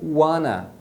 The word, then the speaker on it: wanna: Eles vão pronunciar o want mais o to como wanna.